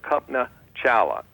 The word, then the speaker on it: Kalpana Chawla: Her name is Kalpana Chawla, spelled a little different, spelled Kalpana Chawla, pronounced Kalpana Chawla.